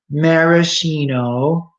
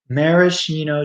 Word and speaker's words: maraschino: English we call them same thing as Italian but our pronunciation is very bad and we say maraschino maraschino cherry a maraschino cherry